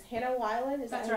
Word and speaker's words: Weiland: It's Hannah Weiland, is that's that how right. you pronounce it?